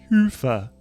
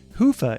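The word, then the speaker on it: Hyvä: Commerce is sponsored by hia or as the Europeans say hoofa or the right way to say it hoofa is rapidly becoming the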